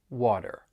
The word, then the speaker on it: water: the final R so the flap T is a really distinct part of the American accent this is when the t is going to sound like a soft D and it often occurs when the t comes between two vowel sounds and is part of an unstressed syllable so here here are